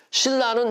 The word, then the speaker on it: 신라: 이렇게 발음해야 되는 거예요 신라는 신하고 라를 자를 수 있어요 못 자르죠 그러니까 어떻게 발음해야 돼요 신라 이렇게 발음해야 되는 거예요 자 그래서 선능 이걸